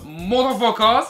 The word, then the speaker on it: Mutafukaz: de Mutafukaz, voilà, voilà, c'est une prononciation bien spéciale, voilà, parce que vous lisez Mutafukaz, mais en fait c'est censé être un petit peu... Voilà, c'est censé être un petit peu une phonétique pour motherfucker.